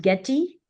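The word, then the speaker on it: GETI: We call it Getty. Uh so I is a E here uh in the sense of how it's pronounced. Igloo E. So get E.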